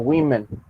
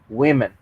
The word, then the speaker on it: women: Sabemos que woman se pronuncia así, que es woman con A, pero al momento de cambiarlo a plural, por alguna razón se pronuncia como women. La razón no estoy seguro, realmente no la sé, pero sin embargo así es como debe pronunciarse, women.